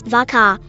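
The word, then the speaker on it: varchar: SQL TP vaa as V car I pronounce the cha part to sound like car as an automobile and the VA part to run with it but all of this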